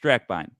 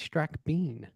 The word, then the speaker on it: Strackbein: If you're my relatives from Texas, it's Strackbein. And I have some Okay. friends from Texas that pronounced it that way and they thought they were doing it wrong. And I was like, that's the Texas pronunciation as far as I'm concerned.